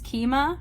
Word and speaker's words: Kyma: and then I do it is keema right that's how Daniel pronounced it so I'm gonna try